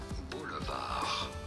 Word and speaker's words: Boulevard: french origin in French it is said as Boulevard hence the Deep being silent even in English